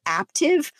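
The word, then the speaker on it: Aaptiv: all these other activities there's one called active spelled like app aap tiv it's weird they have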